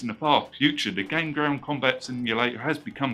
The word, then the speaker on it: Gain Ground: this game now however i had trouble pronouncing this game at first where this does look like a j instead of an i so all this time i've been pronouncing this game kachiko ground instead of game ground so yeah who bright